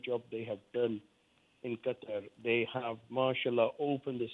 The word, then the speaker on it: Qatar: happening in equate or cut sorry yes thank you for correcting me pronouncing it properly like a Muslim I've heard I've heard